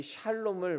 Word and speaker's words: 샬롬: 평안이란 뜻을 가지고 있지요 성경에는 여호와 살롬이라고 번역이 되어 있는데 정확한 발음은 샬롬이 맞습니다 그래서 여호와 샬롬 이렇게 우리는 발음하면 되는 것이지요 여러분 누구나 우리는이 샬롬을 원합니다 그래서 땅과이 땅